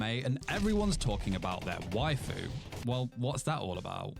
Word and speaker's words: waifu: I never really wondered how waifu really started. I thought it's because, Japanese pronunciation of some words, they're more extended. So wife, waifu, and they're like, ha, let's just, use that.